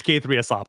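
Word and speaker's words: k3sup: So Is it pronounced K3S Up, Radu, or is it no, more it's ketchup?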